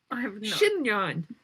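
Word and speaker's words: chignon: with me here like a how do you pronounce that word like like a pug on your head shinyon c-h-i-g -n-o-n then I made the mistake of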